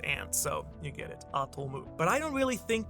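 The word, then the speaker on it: アトム: could be a wordplay based on how atom is pronounced in Japanese, atomu, because to means and, so you get it, atomu.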